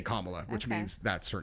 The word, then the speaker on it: Kamala: like if I remember I call her comma because that is how her name is pronounced is it really kamla yeah oh if you listen to anyone who actually knows her they all say kamla which means that's her